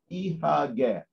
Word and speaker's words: Ihagee: The abbreviation IHG in German is pronounced as Ihagee.